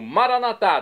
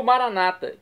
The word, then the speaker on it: Maranatá: E agora eu clamo, Maranatá, do dialeto de Jesus, o aramaico, como dizemos nós católicos, com a tônica na última sílaba. Ou Maranata, como dizem nossos irmãos separados das comunidades evangélicas ou protestantes. Não importa, a pronúncia e o significado é o mesmo.